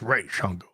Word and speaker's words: Ra's al Ghul: So yeah, but when you got like Deanie and whatnot, yep, who are actually you know, and they say no, it's pronounced Ra's al Ghul, then that's where you take it from there.